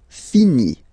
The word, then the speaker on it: finit: Il, elle finit. So it, final t not pronounced.